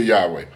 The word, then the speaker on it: Yahweh: Glory to Yahweh. And amen. Pronounce his name Yahweh, showing the four consonants YH, WH in the sacred name of Yahweh.